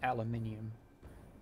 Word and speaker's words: aluminium: i need more aluminium i pronounce it aluminium because there's an eye between there you and a you